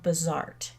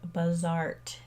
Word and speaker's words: Bazaart: and that is called buzzart it's spelled with two A's three really but just like the word Bazaar with a t on the end because it's a little